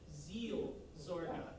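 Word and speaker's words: Seelsorge: little easier i think although megan uh instructed me that i wasn't pronouncing it right it's actually zeal zorga yeah zeal there's two e's she yeah she knows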